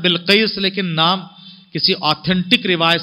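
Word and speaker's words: بلقيس: Change कर दिया है, कोई जो बिलकिस बोलता है लेकिन सही प्रोनाउंसिएशन है बिलकिस है, तो जैसे खदीजा को लोगों ने बिगाड़ दिया, कोई खुदैजा कोई खुतैजा कोई खदीजा, सही है खदीजा।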